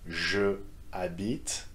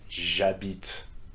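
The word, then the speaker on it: j'habite: phonetic phenomenon in french instead of saying je habit the pronunciation is east as jabit sam will go for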